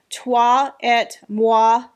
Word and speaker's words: toi et moi: A lot of you showed me the proper way to pronounce my ring. Of course, I don't have my notes in front of me, but I will try again to do it. So it is a toi et moi ring, which is French for